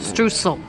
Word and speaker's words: Streusel: Which I'm mispronouncing that. Streusel. Streusel. Streusel. Not S-H at the end.